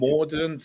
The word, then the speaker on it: Mordaunt: But the question, I mean, what about Penny Mordaunt? Mordaunt? How do you pronounce it? Mordaunt.